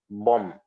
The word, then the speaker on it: bomb: the same thing as bom the last b is not pronounced is not pronounced somebody